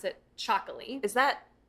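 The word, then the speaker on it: txakoli: T X A K O L I and you pronounce it chocoly. Is that It almost sounds like an Aztec word. Yeah, it's actually Basque.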